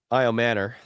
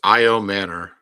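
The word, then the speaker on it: Ayomanor: I Manor. Thank you. I keep wanting to pronounce his name. Uh I I'm not Yeah, I get it. It It's I Manor.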